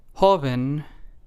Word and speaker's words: joven: Same thing goes with the second word, joven. There are only two syllables, so the syllable that we stress is the first one.